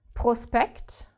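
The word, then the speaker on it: Prospekt: play SP is SHP if we have it in the middle of a word which is really not very common but it happens like in the word prospect prospect like in English Prospect same thing then S and P are separated and therefore do not create this SHP sound okay what doesn't exist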